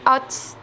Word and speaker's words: taught: On a qu'à ajouter hot. A-U-G-H-T. The G-H is a silent letter. You just pronounce it hot.